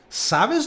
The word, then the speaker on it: sabes: a decir oye tony sabes dónde hay y la fuerza se está poniendo en la primera sílaba no en la segunda